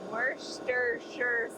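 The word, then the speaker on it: Worcestershire: Worster Shire sauce when you say sure instead of sire it become so it becomes wor sure sauce wash your sister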